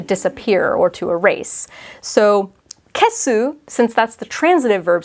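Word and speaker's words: 消す: So again, the kanji are the same, but they're pronounced differently. And then you've got like a hiragana su after the kesu versus an eru hiragana after kieru.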